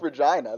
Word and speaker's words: Regina: not pronounced how it like Regina it is pronounced Regina that's how it's pronounced it's not pronounced Regina it's pronounced vagina that's pretty funny I mean